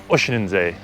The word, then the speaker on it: Oeschinensee: Oeschinensee, as it's correctly pronounced.